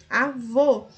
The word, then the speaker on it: avô: Avô, a última sílaba é a mais forte e recebeu acento.